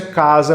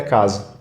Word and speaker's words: Kaaza: Mas e a pronúncia é casa mesmo. A maioria das pessoas falam casa, mas é é casa.